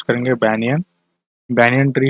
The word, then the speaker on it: banyan: ठीक है, तो आई होप ये चीज़ समझ गए आप कि आप इसे किस तरीके प्रोनाउंस करेंगे। बैनियन, बैनियन ट्री है और एडवेंटिशियस प्रॉप रूट्स होती हैं।